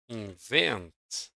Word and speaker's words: invent: invent on the second.